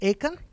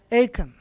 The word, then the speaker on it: Achan: Do you pronounce Achan? Achan, yeah.